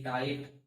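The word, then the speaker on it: tight: देखो दोस्तों, जब भी किसी इंग्लिश वर्ड में जीएच हो और उसके ठीक पहले स्वर हो या जीएच के बाद टी हो तो जीएच का उच्चारण नहीं होता है।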